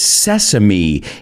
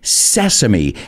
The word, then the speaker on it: sesame: And it's sésamo in Spanish, but it's sesame. Esa E se pronuncia como una E. E, sesame.